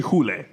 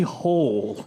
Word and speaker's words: Hole: name in the like original Swedish is Harry Hule. But it's they pronounce it in the English language movie Harry Hole.